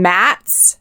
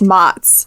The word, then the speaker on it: Mats: all just called him mats this was several months and then finally finally he messaged or you know mentioned it in discord somewhere that his name is pronounced motts and we were all